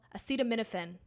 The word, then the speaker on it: acetaminophen: Acetaminophen, by the way, that's how you pronounce it.